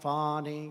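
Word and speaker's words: Fani: local Das and local attorney generals and fonny fonnie you know fonnie spelled f a n i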